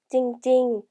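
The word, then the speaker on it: จริงๆ: 찡찡, 찡찡이라고 발음하고요.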